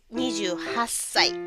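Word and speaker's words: 二十八歳: 28 years ठीक है 28 को जापानीज में नीज हाची बोलते हैं नीज हाची ठीक है पर उसके बाद स यानी कि साल लगाते हैं तो थोड़ा सा प्रोनाउंसिएशन अलग हो जाता है। ठीक है? 28 इज नीचे लेकिन 28 इयर्स इज नीज हास।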